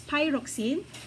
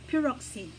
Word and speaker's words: pyroxene: I rocks in some some geologists pronounce it as pyroxene it can also be paroxetine okay so you can